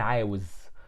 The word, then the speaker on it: عاوز: Either I say أنا عايز or أنا عاوز. Sometimes you find some Egyptians say it like this, and some other Egyptians say it like this, and both are correct and common.